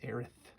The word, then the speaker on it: Aerith: Eris, I said, but it says Aerith. The more modern pronunciation, or that maybe the correct pronunciation.